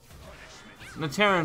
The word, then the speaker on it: Naterran: Naterran might be the way it's pronounced. Naturan sounds more natural to me, but I'm sure it is Naterran. Because it's Natera, so Naterran would make sense.